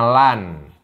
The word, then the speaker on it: Land: Land itu negara. Ini bacanya land, bukan land loh ya. Ini bahasa Jerman, bukan bahasa Inggris.